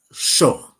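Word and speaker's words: sjoe: SJ OE, it's sh. Okay, thank you. It's like South African, which Dylan could have helped us with last time.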